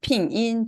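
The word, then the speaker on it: 拼音: 핑인, 중국어 발음으로는 핑인이라고 해요.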